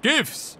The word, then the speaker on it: GIF: Das heißt Chiffs, Coach. Ausgesprochen wird es eigentlich GIFs.